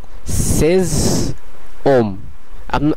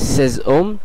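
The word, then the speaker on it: ses hommes: মতন হয়ে যাচ্ছে এবং সেজ ওম। আমরা লেখার সময় আশটাকে ব্যবহার করব, কিন্তু উচ্চারণের সময় আশটাকে আমরা সাইলেন্ট রাখবো, সেই কারণে এটির উচ্চারণ হবে সেজ ওম এবং আপনারা বাংলাতেও দেখতে পাচ্ছেন এটির উচ্চারণ সেজ ওম।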